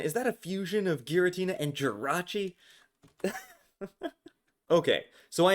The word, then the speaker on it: Giratina: Okay, so it sounds like a horror G sound.